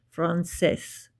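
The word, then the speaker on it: français: Now this little guy here means that this is a soft C. So it's not a C sound. It's a s sound. Frances.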